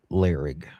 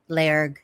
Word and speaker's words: Lairg: then go back toward Larig. Is that how you pronounce it? Larig? Lairg, yeah. Lairg, yeah.